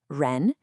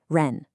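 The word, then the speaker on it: 人: To make that R sound correctly, you want the tip of your tongue to curl back a little bit, almost touching the roof of your mouth. Let's try it. Ren.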